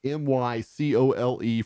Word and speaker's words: Mycole: It's Olamide, Olamide for Zacchaeus, and Michael, Mycole for Pruitt.